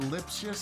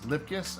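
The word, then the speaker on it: Lipcius: Andre, is it Lipius? How do you say this? Lipkus.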